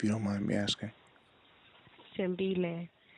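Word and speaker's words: Thembile: How do you pronounce it? Tembile.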